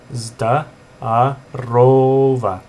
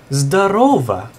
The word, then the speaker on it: здорово: So you'll hear a lot of Russians will say здорово. And remember, don't put the accent on the first O right here, because then it's здорово, and that means like, oh, that's cool, that's fine.